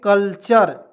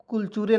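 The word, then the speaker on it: culture: यहाँ देखिए कल्चर, कुलचूरे नहीं पढ़ेंगे, बहुत तो कुलचूरे पढ़ लेता, नहीं कल्चर पढ़ेंगे।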